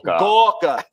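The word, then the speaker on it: Gorka: Uh, that's actually how you pronounce his name. Gawka.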